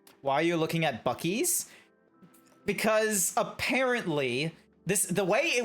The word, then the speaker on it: Buc-ee's: You sure it's not pronounced Bussies? It's Buc-ee's.